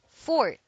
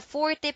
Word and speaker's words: forte: not his fault fourth the word is spelled Forte but the E is pronounced only when speaking of music as a Forte passage the words for a strong point and strong hold are pronounced the same fourth thank you for watching